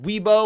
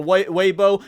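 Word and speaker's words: Weibo: Chinese it came from I believe it's pronounced weebo or webo basically a Chinese social media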